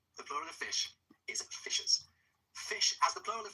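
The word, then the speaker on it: fiscas: Old English, F-I-S-C-A-S, F-I-S-C-E-A-S, bearing in mind that in Old English, SC is pronounced sh. So it was fishers.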